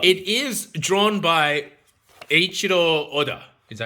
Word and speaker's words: Eiichiro Oda: It is drawn by Eiichiro Oda.